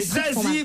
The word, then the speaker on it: Zazie: C'est un peu comme Slip Suisse ou Saucisson sec. C'est Zazie, bonne réponse de Sophie Favier.